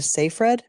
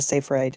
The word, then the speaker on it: Seyfried: many ways, but I'm going to say Amanda Seyfried because once I read that's how it's pronounced, but they always call her Amanda Seyfried.